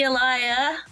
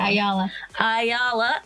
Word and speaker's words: Ayala: Everybody, that is Andie Ayala. And I pronounced it wrong. Ayala. Everybody, that's Andie Ayala. These people, Ayala make you holla.